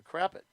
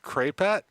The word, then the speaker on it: crapette: I intentionally mispronounce it. Oh, you mispronounce all the words. I am pretty sure I do. This is pronounced crapette, and crepes.